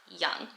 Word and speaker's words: Young: pronounced we pronounce it young like y o u n g um so we like Aaron's pronunciation of her last name is anglicized to begin with and again obviously English